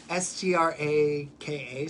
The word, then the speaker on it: Straka: Nobody knows how to pronounce his name. It's Straka, so it's like, are you Brandon Straka?